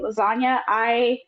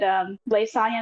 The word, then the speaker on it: Lisilsanya: It's also Lisilsanya. That is how you pronounce it. Some people say lasagna. I've been playing roleplay for a couple of years now. I did Lisilsanya in the SDS Zone 3.0.